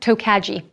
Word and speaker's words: Tokaji: I should say toai from Northeastern Hungary it's pronounced toai no tokaji these beautiful wines are from the region of